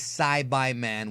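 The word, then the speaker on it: Saibamen: in the soil and yes folks the correct pronunciation is s by men which means cultivate anyways when the first Side by man failed to defeat tensin Han Vegeta didn't want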